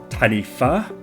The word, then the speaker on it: taniwha: So the word I'm just going to put up on the screen here is pronounced taniwha. This is Maori, and that's because in Maori, WH makes that F sound.